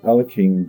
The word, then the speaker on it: Alekhine: And they say with a flank move, it is often best, as Alexander Alekhine did, that's how I say his name, it's often best to